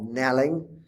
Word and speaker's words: knelling: the classes, and then the silent K of knelling.